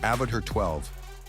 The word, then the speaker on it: Avatr 12: Coming in at number 4 is the Avatr 12. And yes, you heard me right. It's pronounced Avatr 12, but the name isn't the weird part.